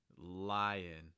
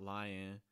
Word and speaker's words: lion: one here lion again make sure you get that i sound and then in sound at the end of that short eye so it's not en it's more n and again if you're especially for like my manner speakers japanese korean speakers make sure that that n sound is really clear so it's not uh it's not lying it's lion lions watch enough for